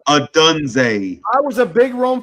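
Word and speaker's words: Odunze: Adunze.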